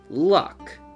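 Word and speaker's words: Lugh: doesn't ring any bells keep in mind that lou is sometimes pronounced luck as in the luck of the irish i told you these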